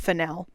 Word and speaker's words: Fennell: Jail for Emerald Fennell for a thousand years. And also, I refuse to pronounce her name as Fennell. I'm not that posh. Absolutely not. She's Fennell to me.